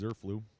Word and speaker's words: Zerflu: 5's name right, and they did confirm that it is Zerflu, so I was saying it correctly for the most part.